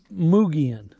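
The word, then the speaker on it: Mogollon: It says between 10,000 and 13,000 years ago, precipitation atop the Muga, it's pronounced, I know it looks like M-O-G-O-L-L-O-M, but it's pronounced Mugian rim began percolating down through 100 yards of rock, basalt flows, coconino, sandstone.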